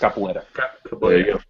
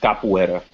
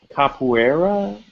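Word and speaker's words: capoeira: this right it's uh Capo era yeah it's pronounced capoa for the last 10 years um it's kind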